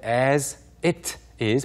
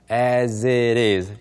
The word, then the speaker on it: as it is: it is 공부하고 올까요 as it is 먼저 발음부터 보셔야 될 것 같은데 as it is 보다는 그냥 as it is 연결해서 발음하는 사람들이 많습니다 as it is as